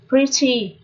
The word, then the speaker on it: pretty: Pretty là xinh đẹp. Và chữ E ở đây được phát âm là âm Y ngắn.